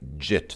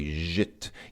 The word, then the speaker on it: жить: So if you hear an English speaker trying to pronounce this word, they'll probably say something like jit. They'll probably pronounce this like a J, and they'll say jit. As if they don't know how to say zhit, even though they know